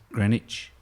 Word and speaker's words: Greenwich: of savik Keswick uh Greenwich a couple of those towns where you've got the WIC and you don't pronounce the W no I I think